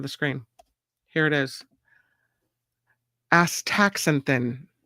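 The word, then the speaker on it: astaxanthin: These lobsters have several layers of pigment called a taxfin. Sorry, I said it wrong. Actan I'll say I'll let me get it right. A taxenthin. A taxenthin.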